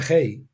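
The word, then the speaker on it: γῆ: Si el autor realmente hubiera querido hablar del mundo o mundos, habría usado la palabra griega G, que se pronuncia ge, que se refiere al mundo físico.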